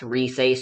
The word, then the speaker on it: Rise: But then again, since the game is voiced, anyone who sees Rice's name will immediately know it's pronounced Rise soon enough anyways.